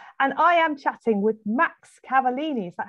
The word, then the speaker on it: Massimo Cavallini: live in bristol and i am chatting with max cavallini is that how you say it my my name is massimo cavallini a lot of people know me as as